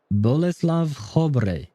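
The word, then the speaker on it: Bolesław: Blesave. The the bored L seems like a W.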